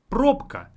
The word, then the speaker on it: пробка: So instead of bk, it would be pk. So bk, pk, very similar in pronunciation, but it's much easier to say pk versus bk. And a word with this combination is пробка.